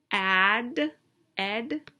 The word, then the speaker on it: added: in our action word when a word ends in a d or a t the ed ending becomes a separate syllable so in other words